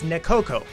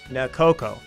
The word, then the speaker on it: Nekoko: this uh absolutely clearly it is nekoko not nakoko some people think it's